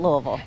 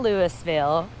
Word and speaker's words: Louisville: yes not louisville not louisville if you know i do say right yeah everybody if you don't know how to say it get it right it's not louisville not louisville louisville louisville yep and you have to